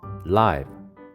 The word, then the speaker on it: live: Leave 살다. live 살아 있는. Leave 살아요. live 생방송.